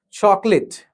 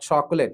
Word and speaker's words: chocolate: Chocolate. Not chocolate, it's chocolate.